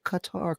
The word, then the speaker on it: Qatar: Shapiro, for pronouncing Qatar correctly.